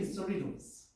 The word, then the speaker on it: Cerritos: Like, I live in Cerritos, and then the Korean people said not Cerritos,